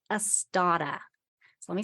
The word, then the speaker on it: Astotta: like I always do, but it is called Astada. So let me spell that.